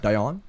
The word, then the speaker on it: Deion: Right. Deion? Deion. Like Deion Yeah. Sanders.